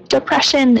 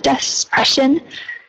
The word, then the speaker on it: depression: And depression, so depression instead of despression.